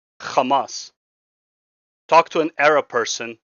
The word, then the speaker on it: Hamas: It is the correct way of saying it because they the people who created kamas named it kamas because that is how you say kamas. This is not pronouncing it like a zanist. If anything if you want to be a palestine supporter then you actually should be saying kamas because that is the proper way that they themselves named themselves.